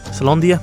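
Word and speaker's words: Caelondia: Gas fellas used to tend the mines, but now are storming the remains of Celandonia. Is that how you pronounce it? Celandia?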